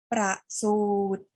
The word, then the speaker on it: ประสูติ: คะ คำ ที่ 2 ปฏิบัติ คำ ที่ 3 ประสูติ ประสูติ ประสูติ คือ การ เกิด ของ พระ พุทธเจ้า